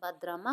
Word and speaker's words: बद्रामा: दूर रे को बड्रामा बद्रामा बद्रामा सेंचुरी प्रोनाउंसिएशन कौन कर बट ओ प्रोनोसिएशन बद्रामा हो नेक्स्ट कौन देखंतु इट